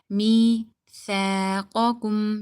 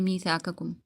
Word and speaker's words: ميثاقكم: Okay, now most of the people they make a mistake over here. They say mithaqakum. Okay, and this is totally wrong. As you can see this alif right here with the tha, you need to read that. You need to stretch it.